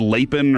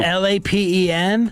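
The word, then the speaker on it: Lapin: I said leapen or lapen and somebody was furious about it.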